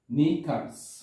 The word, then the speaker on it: knickers: এখানে কিন্তু কে উচ্চারণ হয় না, নিকার্স।